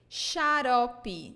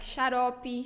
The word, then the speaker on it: xarope: Xarope, syrup. Xarope. So another pattern here, when it is in the beginning of words, we pronounce it like sh.